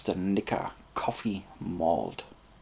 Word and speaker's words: Coffey: think irish called aeneas coffee and it's not even spelt like coffee you just pronounce it this way see e y at